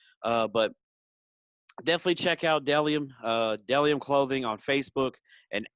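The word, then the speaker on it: Bdelliom: uh not so good this time but it's pronounced dellium i know it looks like bdellium but it's deliam b-d-e-l-l-i-o-m dellium is m is men's and women's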